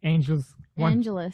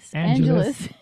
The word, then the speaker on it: Angeles: race director of the Angels. Angeles. We have such a hard time remembering that you just pronounce it like Los Angeles.